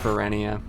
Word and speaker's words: Ferenia: the fair enough yeah it's pronounced perennia technically for any of